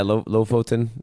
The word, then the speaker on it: Lofoten: Yeah, Lofoten.